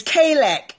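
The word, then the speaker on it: חלק: And I'm going to give you the pronunciation spelling so you can pronounce it. Not the real Hebrew, but K-A-Y-L-E-K. Put that on the screen for somebody for me. K-A-Y-L-E-K. Kalak.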